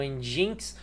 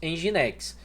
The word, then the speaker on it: Nginx: Esse aqui que alguns falam Nginx, em geral nós pronunciamos Nginx.